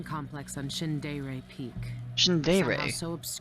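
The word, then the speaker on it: Shindaerey: on shin dairy peak shin dairy that's how you say it people don't believe it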